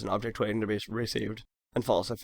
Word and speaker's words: recv: The interesting methods are send, receive, which is spelled RECV, and pull.